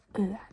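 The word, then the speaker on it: ø: This one many people struggle with. But I think you can just imagine that you ate something really gross. Like you want to throw up, okay? You're like because you ate something really gross, right? And it's kind of the same sound. You just have to pretend like you're spitting out your guts.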